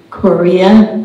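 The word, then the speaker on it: Corea: They spend half of their year in Monterey and half of their year in Korea, Maine. That's spelled C-O-R-E-A, and it's another lovely town on the north coast of Maine, sort of north of Bar Harbor.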